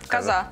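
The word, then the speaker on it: kaza: И а произносится как коза.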